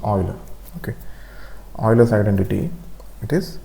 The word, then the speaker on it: Euler: Okay, it is not pronounced Euler, it's pronounced Euler.